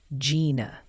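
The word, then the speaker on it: Jena: the locals pronounce it locals in Louisiana typically pronounce Gina as Gina all right what about opalus opalus is usually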